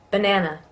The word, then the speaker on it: banana: Banana. Banana. So you notice the schwa in the beginning of banana, ba, even though that's an A.